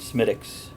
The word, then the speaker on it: Smithwick's: of beer is that this is Smithwick's right am i likes medics and that's how it's supposed to be pronounced from what I understand Semitic s-- actually when you order